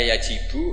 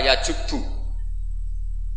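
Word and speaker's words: يَجُبُّ: Itu bacanya bukan yajibu tapi apa? Yajubbu a yaq lah. Kalau pas ini kamu baca yajibu kan alislamu Islam yajibu pusing kamu.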